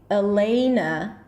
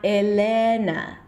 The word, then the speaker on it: Elena: Now, the primary stress falls on the E sound. Usually, a long E sound turns into the A as in day. This is why I would say Elena and not Elena.